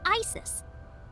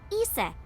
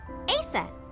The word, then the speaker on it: Isis: horse's mom is named isis but in ancient egyptian it's pronounced closer to isa or asa hang on hang on